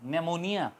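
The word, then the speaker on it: pneumonia: हैं उस बीमारी को तो वो एन से प्रोनाउंस होती है निमोनिया मगर उससे पहले पी आता है तो पी एन से पहले आएगा तो हमेशा वो साइलेंट रहेगा आवाज नहीं करेगा इसी तरह साइकोलॉजी साइकोलॉजी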